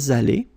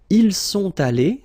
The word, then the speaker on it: allés: You put it, but you don't pronounce it. And then here, masculine form. Ils sont allés.